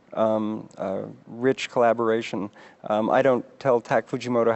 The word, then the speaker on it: Tak Fujimoto: Is that how you pronounce it? Tak Fujimoto and Christy Zia, yeah.